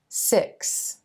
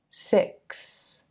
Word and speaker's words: six: sound and the S the tendency for a lot of English learners is to pronounce the X just like an S dropping that K sound so explained becomes explain